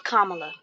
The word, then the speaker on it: Kamala: have the nerve to say her name is kamla okay let's let's she's still Madam vice president Kamala all right and your education baby you can